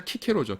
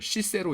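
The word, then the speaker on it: Cicero: 철학자 키케로죠. 키케로. 근데 스펠링이 이렇거든요. 그렇다고 해서 이거를 시세로 이런 사람 없죠. 저기 영어권에선 가끔 그렇게 쓰기도 하는데 원래 이게 이제 하여간 C가 크 발음이에요.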